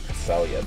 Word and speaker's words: Cresselia: I think it's actually Cresselia, but yeah, it is Pokemon.